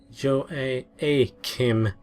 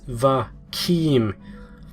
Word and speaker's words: Joachim: Voss' real name was Joachim Martin, but at the first roll call, Harvin had pronounced it Joachim. No, Joachim had said, making a disgusted face. "It's Va-Kim. It starts with a Va sound.